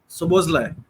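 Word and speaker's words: Szoboszlai: okay, I'm pronouncing it correctly, like Sobozlai.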